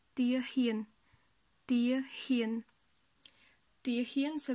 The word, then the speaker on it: ទាហាន: Ho avec le son a, ça fait hie, donc tia hien.